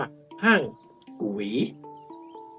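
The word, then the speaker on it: ห้างกวี: ครอง เมือง ห้าง กวี ซึ่ง จะ ออก เสียง จริง ๆ แล้ว เ จะ ต้อง ใช้ คำ ว่า กู หวี ก็ คือ อ่าน ว่า ห้าง กุ หวี มี โอรส ชื่อ ไยอ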